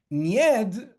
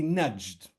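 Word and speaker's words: Najd: Nyed is really nudged. And in English and in French, it's spelled with a J, which perhaps for a Polish reader would translate somehow to a glide, to a ya.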